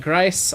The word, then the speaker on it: Gries: Gries with $5. Everyone forgets his last name's German. Lol. Gries rhymes with Heis.